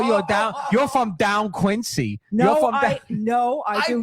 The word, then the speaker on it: Quincy: don't do Quincy. And you didn't even pronounce it correctly, by the way, Mo. It's Quincy. Oh shit.